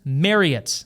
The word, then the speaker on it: Marriott: like it or not, it is Marriott like Chariot. Marriott technically has six membership